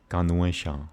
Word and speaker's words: Ganesha: So Ganesha, that's a proper pronunciation for Ganesha.